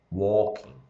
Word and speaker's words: walking: ó vamos lá então como que vai ser a pronúncia Glock você não fala o som do ato e você não fala o som do l tá então você fala aqui